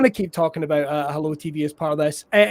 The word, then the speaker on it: HelloooTV: uh it's hello tv i noticed these extra o's on that i am pronouncing it right as hello tv yeah it's more creepy